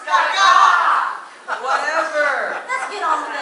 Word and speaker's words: Gaga: It's pronounced Gaga!